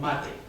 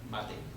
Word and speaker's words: Mate: Minerva, and then Maria Teresa, which in the book she's always called Mate. The first syllable of Maria, the first syllable of Teresa, Mate. So it's not mate, it's Mate.